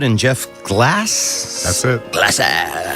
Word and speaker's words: Glasse: Glasse, the E is silent, are both regulars at the top clubs in Gotham.